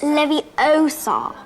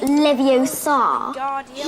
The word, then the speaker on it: Leviosa: someone's eye out besides you're saying it wrong it's Levi Oar not Lev Oar so let's have a